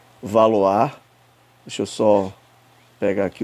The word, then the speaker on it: Valois: com nome aqui de valois né mas na verdade se pronuncia valoar deixa eu só pegar